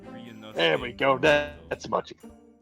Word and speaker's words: Ryunosuke: It's pronounced Ryunosuke.